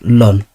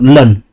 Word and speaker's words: ln: Ln. This is pronounced lun. Oh lun.